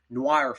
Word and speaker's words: noir: It's going to be more grounded and more of a noir film.